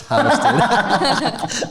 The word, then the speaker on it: Houston: They call it Houston. Really? Yeah, but it's like, it's spelled like Houston. So I used to be like over there like, oh, that's Houston. Like, they're like, no, it's Houston.